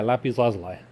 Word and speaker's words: lapis lazuli: Yeah, lapis lazuli. Yeah, the blue one. You pronounced it way better than I could even attempt to, so I'm going to stop here.